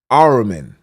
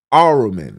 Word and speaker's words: Ahriman: Ahriman. Ahriman. The H is silent.